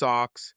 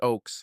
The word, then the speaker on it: Oaks: staring at my badge hello Miss Ox he said mispronouncing my last name many people do this hello sir I replied pronounced Oaks like trees got it he said